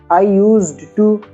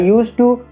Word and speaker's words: used to: इसका राइटिंग में आपको ध्यान रखना है, लेकिन जब आप इंग्लिश बोलते हैं वहां पर आपको डी को प्रोनाउंस करने की जरूरत नहीं है। आई यूज्ड टू ऐसा आपको बोलने की जरूरत नहीं। आप सिंपली बोलिए आई यूज टू, वी यूज टू, यू यूज टू, लेकिन राइटिंग में डिड